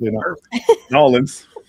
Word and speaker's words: New Orleans: He's from the the great state of Louisiana, uh New Orleans. I don't know if I did that justice or not. You said it right. New Orleans.